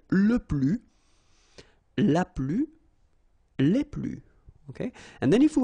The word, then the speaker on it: plus: keep in mind that i don't pronounce it this final s here so we get le plus okay and then if